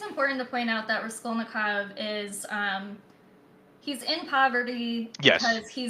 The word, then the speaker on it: Raskolnikov: So we are introduced to Raskolnikov, Rice. Right, that's how we say his name. Raskolnikov, I Yeah, think.